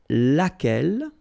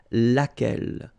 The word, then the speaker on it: laquelle: And then the feminine form, so singular, we saw it laquelle, okay? So basically same rule, QU, U is not pronounced here.